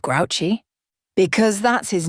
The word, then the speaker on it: Grouchy: Why is he called Grouchy? Because that's his name, said Mrs. Zimmerman. Only it's pronounced Grushi because it's a French name.